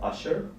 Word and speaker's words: Ushur: I'm the founder and CEO of a startup called Usher. It's spelled USHUR.